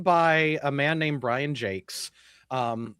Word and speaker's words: Jacques: It was written by a man named Brian Jakes. Um, it's spelled Jacques, but he pronounces it Jake.